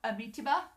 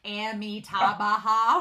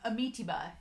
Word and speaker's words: Amitabha: Anime Annie also explained to me how to pronounce Amitabha. There we go. Amitabha. When I looked at the word, I want to do Amitabha, which is not right. So Amitabha is how you pronounce the cultivator that uses